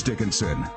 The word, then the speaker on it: Dickinson: of time supermodel janice dickinson what am i it rhymes with rich you are heart you